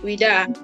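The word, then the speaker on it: Ouidah: Okay, that's how they pronounce it. Vida.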